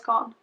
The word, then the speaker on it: garn: You basically don't pronounce the R at all. Alexandra's gone. Almost like G-A-N, gone.